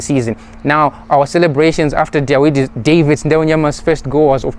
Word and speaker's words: Dawid: His name of course um spelled D A W I D but pronounced David um scored his first goal for the punters.